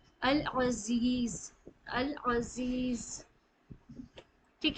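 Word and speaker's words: العزيز: अब जाल या जी में खींचना है क्योंकि यहां पे या मदद है अल अजीज अल अजीज ठीक है यहां पे दो तजवीद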